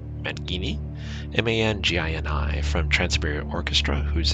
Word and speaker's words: Mangini: And he mentioned that he's going to have Jane, and I'm going to probably slaughter Jane's last name, but I believe it's pronounced Mangini, M-A-N-G-I-N-I, from Trans-Siberia Orchestra, who's a keyboardist, to come out and play.